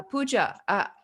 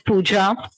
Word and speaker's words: Pooja: a people's mouth uh pooja am i saying your name right you want to share as well hello everyone yes it's absolutely correct my name is puja thanks for pronouncing it right hello everyone it's very